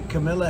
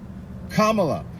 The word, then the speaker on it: Kamala: you know that the Camila Harris K Kamala if you really want someone to listen to what you're saying say you should probably pronounce their name right period question mark hyphen